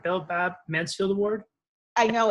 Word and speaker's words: Belle Babb Mansfield: Belle Babb Mansfield Award?